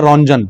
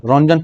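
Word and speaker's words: Röntgen: X ray discoverer का नाम है रोंजन। रोंजन पढ़ते हैं। आगे इसमें जो टी और ई होता है वो साइलेंट होता है।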